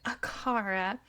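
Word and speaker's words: Acara: I said it just how the Neopets pronunciation British lady says it. Akara.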